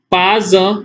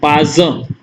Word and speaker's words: pas un: vowel, which is U, the whole, both words are pronounced together. So it is pas un, pas un.